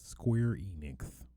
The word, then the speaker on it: Square Enix: first topic of discussion square enix you got to say it like that square enix trademarks effort crisis the